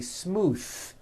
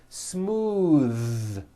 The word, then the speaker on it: smooth: ends of words smooth believe it or not the th sound in smooth is voiced most foreign speakers say this word incorrectly they say smooth with an unvoiced th but it's voiced smooth bathe the word bath